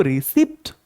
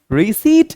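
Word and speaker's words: receipt: ये जो रसीद है ना, हमारे यहाँ इसको रिसिप्ट पढ़ा जाता है, लेकिन आपको मालूम है इसकी करेक्ट प्रोनाउंसिएशन रिसिप्ट नहीं बल्कि रिसीट है।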